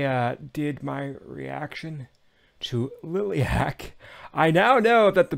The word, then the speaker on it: Liliac: weeks since I uh did my reaction to lilc I now know that the band's name is pronounced lilc and not lilac geez what was I thinking um you all